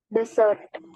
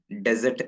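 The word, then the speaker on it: dessert: പാടില്ല മാറരുത് ഡെസേർട്ട് ഡെസേർട്ട് രണ്ടാമത്തേത് എന്താണ് ഡെസേർട്ട് എന്നല്ല വായിക്കേണ്ടത് ഡിസേർട്ട് ഡി സെർട്ട് ഇവിടെ സെ എന്നുള്ള ശബ്ദം തന്നെയാണ് ഡബിൾ എസ് എന്നുള്ളിടത്ത് സെ എന്നുള്ള ശബ്ദമാണ് സെർട്ട് ഓക്കേ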